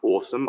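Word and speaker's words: OSoMe: anyone interested in this that first one is pronounced awesome i disagree with the pronunciation but it's just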